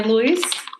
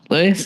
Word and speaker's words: Lewis: with pronouncing this name no no Louis is fine it's okay I've heard it many many different ways so okay good long as it's not like Lou that's um I'm Le